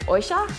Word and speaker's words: Yoisho: There's a Japanese expression, it's spelled Y-O-I-S-H-O, and my grandmother always pronounced it oisha.